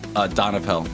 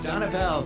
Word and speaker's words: Donapel: Donapel. Donapel.